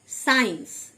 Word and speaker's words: science: সায়েন্স, SCIENCE, সায়েন্স, সি সাইলেন্ট মানে বিজ্ঞান।